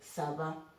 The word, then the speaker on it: saba: In Swahili we say saba, but in Bukusu we say saba. Vavandu saba, shilingi saba, vitabu saba. Okay, so the moment you pronounce the B in Bukusu, you kind of make it va.